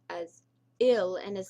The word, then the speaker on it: il: Okay, guys, we already know that the masculine is il, which is pronounced as ill and is spelled as ill in English, but it is pronounced as il in French.